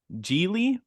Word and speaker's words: Gigli: we are going to kick things off with gie which I was really scared I I was